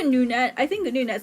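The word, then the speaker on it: GNUnet: It's pronounced NewNet. Oh, NewNet. Can I say GNU-net?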